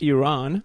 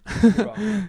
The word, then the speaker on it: Iran: It's pronounced Iran. Iran, yeah.